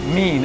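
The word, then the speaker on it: min: How do you pronounce that word again? Mean, M-I-N. M-I-N, mean.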